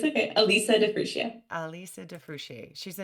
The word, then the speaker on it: Alisa: say your first name say it it's okay Alisa defia Alisa defier she's a naturopathic doctor certified